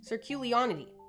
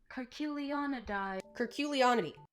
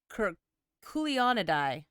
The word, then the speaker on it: Curculionidae: I would never have guessed that that first C was a hard C. I also would have been Sir. Also known as the... Actually, I mean, cur, like a dog.